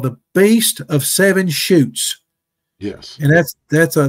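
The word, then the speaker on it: Chutes: the beast of seven shoots yes and that's that's a there's a that's a Provincial Park up in Quebec Quebec Canada and shoots is spelled c hu Tes the Beast of seven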